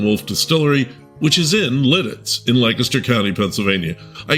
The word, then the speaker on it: Lititz: It's pronounced litts. Last episode featured a great interview with Eric Wolf, co-founder of Stolen Wolf Distillery, which is in Litz in Lancaster County, Pennsylvania.